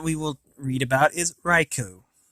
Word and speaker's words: Raikou: will read about is raikou riko i'm not exactly sure how it's pronounced i usually pronounce it raiku so i might be pronouncing it wrong but anyway it is